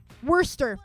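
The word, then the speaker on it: Worcester: You ignore like 70% of the letters. Pronounce it this way." And I'm like, "Worster.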